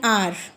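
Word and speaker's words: hour: Like N आर, इसमें H silent है तो हम इसमें एन का यूज़ करेंगे।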